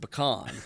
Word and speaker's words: pecan: As far as I know, we pronounce it pecan.